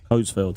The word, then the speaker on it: Coesfeld: Germany in, what is it, Coesfeld, is that pronounced right? Coesfeld.